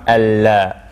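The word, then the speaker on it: الله: that is yeah this this lamb in only in the name of allah is the lamb heavy okay so so here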